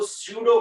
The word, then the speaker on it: pseudo: हाँ, P spelling क्या होती? PSEUDO, स्यूडो, FORC, force. स्यूडो force है ना, एफ से चालू नहीं होता स्यूडो, है ना, सभी जानते हो कि पी से चालू होता है।